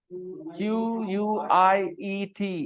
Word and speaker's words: quiet: Look at the spelling, Q-U-I-E-T.